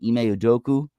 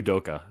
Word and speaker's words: Udoka: And with the way Marcus Smart was playing in Game 4, Ime Udoku, did I say it right, Cade? Almost Ime Udoka.